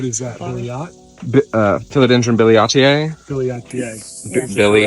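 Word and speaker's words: billietiae: Billiatier.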